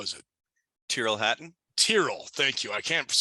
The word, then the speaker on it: Tyrrell: Tyrrell. Thank you. I can't pronounce his damn name.